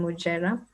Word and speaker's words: Mujera: depending on where you learned your english the pronunciation so it's mujerah yeah i'm based in nairobi kenya i'm also